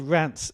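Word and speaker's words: Reims: plus 107 and just very quickly on the pronunciation here I'm calling them rants which is what they're called anybody looking at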